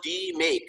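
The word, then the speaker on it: DMAIC: is that we make it's pronounced d make like making something so it's d make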